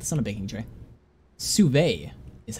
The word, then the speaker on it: sous-vide: Sous-vide is how it's pronounced.